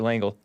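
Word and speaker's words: Lengel: liked how brent lang langel l-e-n-g-e-l i think he pronounces it langle wanted to understand why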